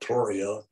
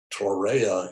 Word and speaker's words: Torreya: pronounced pronunciations that confer is named after john tory so you might call it toria but uh torreya is a way a